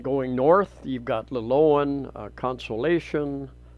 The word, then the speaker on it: Consolacion: And going north, you've got Liloan, Consolacion. I've been corrected a number of times on that pronunciation. It's more of a Spanish pronunciation.